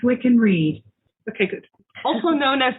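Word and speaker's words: Wiccan Rede: is the wiccan reed hey google how do you say we can read that's pronounced we can read okay good also known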